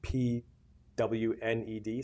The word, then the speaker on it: pwned: It's spelled P WNED.